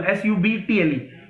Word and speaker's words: subtle: is a word subtle s-u-b-t-l-e subtle means b is silent subtle means something you